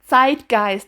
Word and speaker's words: zeitgeist: The Z is hard. It's zeitgeist, not a zeitgeist or whatever you guys want.